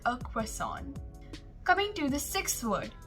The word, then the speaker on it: croissant: just a quick comparison in the american pronunciation we say it as croissant crescent whereas in the british pronunciation we say it as croissant press on i like a croissant coming to the sixth